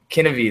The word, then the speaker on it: Kininvie: Ask her about, I can't even begin to pronounce that word. Kinivy. It's a wonderful brand. Kinivy. There you go. Yeah, I don't know. Kinivy.